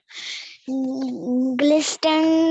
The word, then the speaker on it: glistened: okay, glistened when Not his glisten, T is silent.